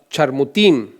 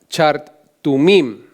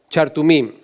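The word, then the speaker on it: חרטמים: Esto en el texto original les llama charmutim. Quizá lo estoy pronunciando mal, pero es chartumim. Esa es la palabra, chartumim.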